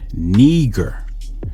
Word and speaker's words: Niger: but it says it's not pronounced Niger its pronunciation is Neer it says it's of Latin origin it means